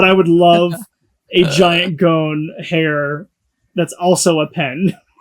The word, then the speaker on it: Gon: Am I Am I pronouncing that right? Um yeah, it's gone.